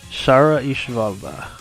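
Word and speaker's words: Shara Ishvalda: Shara Ishivalda.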